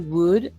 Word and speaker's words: would: or I called wood remember wood that L is silent yes I hold and